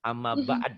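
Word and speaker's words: أما بعد: Ada juga yang baca amma ba'du, padahal harus yang benar amma ba'd, itu wakaf isyarah. Tapi kita sudah terbiasa dalam salah. Ya, amma ba'd.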